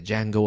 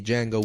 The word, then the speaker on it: Django: So Django of the Week is spelled with a J, not a D, like the film Django Unchained. It's a Jango of the week. You can hashtag it. Very different to the Django with a silent D.